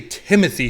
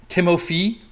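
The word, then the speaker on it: Timothée: so I went with I always say Timothy chalamet but apparently it's like Timothy like I'm not sure they pronounce it a little bit differently it's even spelled with like an f and ee or a t h a Timo fee chalamet huge bless you um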